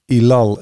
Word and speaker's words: Ellul: introduction to this this is propaganda by Jacques ilal as we'd say in English as they would